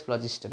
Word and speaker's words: phlogiston: Okay, I personally remember it as pH phlogiston theory, but pronunciation will be very awkward, so I am saying it as phlogiston.